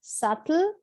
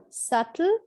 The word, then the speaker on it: subtle: clear t sound or if you follow the u.s accent they like to pronounce the t like a d so it is subtle subtle or subtle subtle with